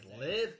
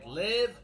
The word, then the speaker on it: live: I live in Vietnam. Short like the word give. And also you can say it like this. We watched a live concert last night. Long eye like the number five.